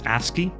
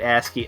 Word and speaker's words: ASCII: like happy 9 birthday i believe that's uh pronounced ascii ascii oh you're right ascii a funny ascii drawing